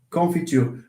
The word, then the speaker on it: confiture: Confiture. What happens to u in confiture? To this one here, the u is the high front rounded vowel.